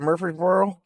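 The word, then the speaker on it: Murphysboro: So yeah, if you're in Murphy'sboro, is that how you say it? Murphy'sboro.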